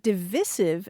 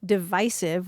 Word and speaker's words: divisive: people of letters and back in 2001 the short eye rhyming with permissive was acceptable to only 16% of the panel